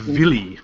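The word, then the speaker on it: Wille: nerve rescues cor from Willie who's the new guys in in I think pronounce villy like with a with a German V V yeah cuz the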